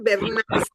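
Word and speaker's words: Bernays: Es Eduward Berniz. Sí, Edward Berne Berniz. Se escribe B E R N.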